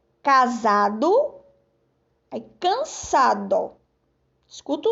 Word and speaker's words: casado: Temos aqui, ó, casado, aí cansado. Escuta o som do S agora. Casado, ó, za. Esse S aqui na palavra casado tem som de Z, ó, quando eu pronuncio.